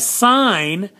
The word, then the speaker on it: sign: is now sounded so if i have sine then that one's silent but if i do signature this one is now sounded so isn't that interesting